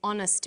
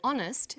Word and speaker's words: honest: happy man but an honest man the H is not pronounced so honest sounds like it starts with a vowel and where the value